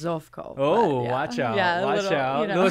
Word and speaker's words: Zovko: who you are zavco am I pronouncing that right yes Yes actually in Croatian it's zofko oh watch out yeah